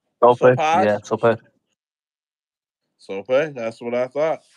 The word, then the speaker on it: Sopaj: Yeah, Sopaj.